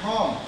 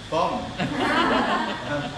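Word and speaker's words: Pomo: are doing today and you must say my name home p o m o not bomb i'm the guy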